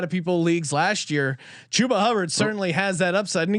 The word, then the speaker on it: Chuba Hubbard: I've been all over this guy to the point that I've been lectured on the pronunciation of his name. Give me Chuba Hubbard.